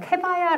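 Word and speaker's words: kebaya: 보시면 살롱 해봐야라고 해요 캐봐야 라기도 하고 커버야라고도 해요 그래서 조금 아까도 뉴오냐 라기도 하고 노냐 라기도 하는데 발음들은 어느 지역에서 말하느냐에서 조금씩 달라질 수가 있어요 캐봐야는 테라나칸 여성의 대표적인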